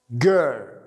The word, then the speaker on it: girl: البنت girl girl girl. ليست girl، لا girl. تلاحظ انه انا في ضمه والار مخفف girl.